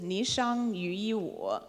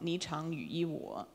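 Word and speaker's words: 霓裳羽衣舞: It can be pronounced in two ways. The most common pronunciation is Ni Shang Yu Yi Wu, but the second character can also be pronounced Chang, Ni Chang Yu Yi Wu.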